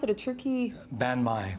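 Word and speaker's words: bánh mì: And then the final one is how do you pronounce it? A turkey? Banh mi. Banh mi.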